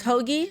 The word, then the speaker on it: Hoagie: Hoy or Hoji? Oh, Hawaii. How do you What? Hogy. His name's Hogy.